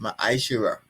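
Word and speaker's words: מעשר: You can find this in numbers 18:21 and Malachi 38-10 and it means tent in the Hebrew and is pronounced maishira 10% of every penny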